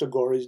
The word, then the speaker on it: Aghori: Aghora is spelled A-G-H-O-R-I.